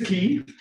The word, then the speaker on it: Quay: And I was like, So the word is key.